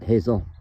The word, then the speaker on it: Haziel: Haziel, but she pronounces it Hazel.